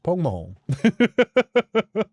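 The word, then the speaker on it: póg mo thóin: But yeah, it's pronounced more like pog pog horn. Pog mahorn.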